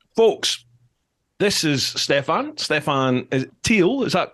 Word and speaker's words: Stephan Thiel: This is Stephan Thiel, is that correct? Stephan Thiel, is That's that how you right.